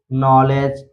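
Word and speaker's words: knowledge: इसी तरह नोक, इसी तरह नी, नाइफ, नॉलेज, नीड, तो इन सभी वर्ड में आप देख सकते हैं यन से पहले के आया है इसलिए के साइलेंट है।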